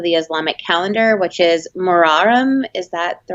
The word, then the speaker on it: Muharram: first month of the Islamic calendar which is Muharram is that the right way to say yeah